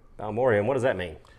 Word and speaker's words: Balmorhea: This is Garrison Brothers, how do you pronounce it? Balmorhea. Balmorhea, and what does that mean?